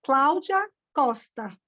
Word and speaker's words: Claudia Costa: In Portuguese, that's the language I speak, is Claudia Costa.